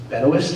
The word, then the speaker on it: Benoist: I think Melissa Benoist, is that how she pronounced it? Benoist, actually.